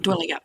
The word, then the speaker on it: Dwellingup: And this place is, and I apologise if I pronounce it wrong, Dwelling Up. Yep, that's it. Dwelling Up, yep.